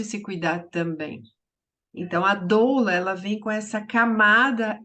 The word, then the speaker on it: doula: olhar sistêmico Lembrando que doula é uma palavra grega que se pronuncia doula e ela significa mulher